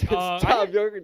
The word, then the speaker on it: Thom Yorke: He pronounces it as Tom.